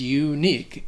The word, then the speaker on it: unique: The next word is unique, and the pronunciation of this word is unique because that letter U sounds like you are just saying the actual name of the letter, U, unique. The Q-U-E at the end has a K sound, like a K sound, unique.